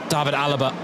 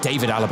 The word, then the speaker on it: David Alaba: Thomas Müller Philip L David Alaba excuse me David Alaba I always do that always do that with his name it's just such instinct to pronounce it the German way but for a couple